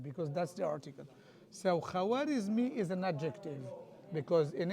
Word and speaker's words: Khwarizmi: So, al So, k h in Arabic is the kha. So, al Khwarizmi.